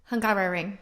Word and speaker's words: Hungaroring: Don't look at me when you're Hungaroring. Hungaroring.